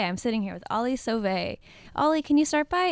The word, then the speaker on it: Sauve: how do you say your last name again survey survey I'm sitting here with Ali sovay Ollie can you start by introducing yourself yes